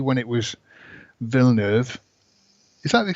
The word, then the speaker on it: Villeneuve: a remake, and then B, when it was Villeneuve. Is that the correct pronunciation?